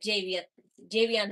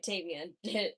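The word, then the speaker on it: Tavion: Oh, that Javion Heights, yeah. So rightfully so. Yeah, Tavian. Why'd I say Javion?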